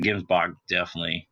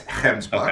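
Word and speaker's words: gemsbok: So a Gimsbach definitely on the list. All right, can I correct you? Can I correct you for a minute? It's Hemsbuck. Okay.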